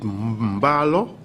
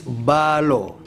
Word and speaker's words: Balo: is it Mbalo or is it Balo?